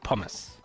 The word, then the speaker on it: pommes: Yeah, pommes frites, or if you want to be cool, you call it pommes. Which is a funny German pronunciation of pomme.